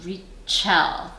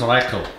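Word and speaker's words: Reichl: I think her last name is pronounced Rachel. Rachel? I believe it's Reichel. Reichel. Well, that's the German pronunciation.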